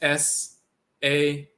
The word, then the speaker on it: sah: So that's S-A-H, which is sa. Sometimes written sahu, but sa, the spirit body.